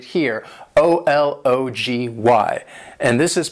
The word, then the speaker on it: ology: That first one is a short O sound, and the second O is more of a schwa sound.